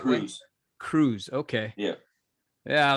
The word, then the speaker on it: Kroese: be here hey am I am I pronouncing your last name the right Cruz Cruz okay yeah yeah I was like oh